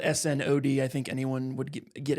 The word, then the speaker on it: Snaadt: So when I first kind of got into networking and meeting people, everyone always struggled with my last name. So it's Snod. It's S-N-A-A-D-T. If it was spelled S-N-O-D, I think anyone would get it, but it's the spelling that throws people.